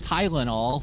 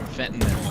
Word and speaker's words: fentanyl: why they say fentanyl. I know. Fentanyl. Like, it's weird to me because there's Tylenol. Things are spelled and pronounced like all, but fentanyl is spelled fentanyl. The difference is fentanyl. Yeah. It's Tylenol.